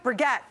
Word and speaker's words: Burget: Joining us this morning is the co-founders of 3 Ships Beauty, Connie and Laura Burget. Did I say it right? Burget.